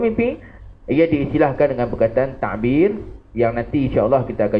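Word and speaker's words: تعبير: Ta'bir kalau ejaan jawinya ta'ain ba ya ra. Bukan tadbir tu, bukan pegawai tadbir tu. Tapi ain, ta'ain, ta'bir.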